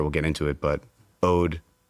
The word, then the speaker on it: Ode: get into it, but Ode is the way that it's pronounced and it does mean the word Ode O D.